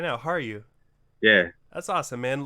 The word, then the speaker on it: Harju: Harju.